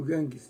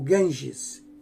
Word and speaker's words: Ganges: Dos espíritos degradados no ambiente da Terra, os que se agruparam nas margens do Ganges, o rio Ganges, né? Ou Ganges, perdão, pronunciei errado, é Ganges, foram os primeiros a formar os pródomos, né, de uma sociedade organizada.